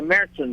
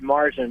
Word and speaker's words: Märzen: And we have to have a little lesson for some people because they call it Marzen. Marzen's incorrect pronunciation. It has the two dots over the A.